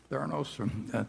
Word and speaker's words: Theranos: And Theranos, I think, is that the way you pronounce it, Charlie? Theranos?